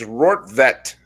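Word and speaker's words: Rortvedt: of planet earth and there they have the pronunciations it's rort vette and who knows he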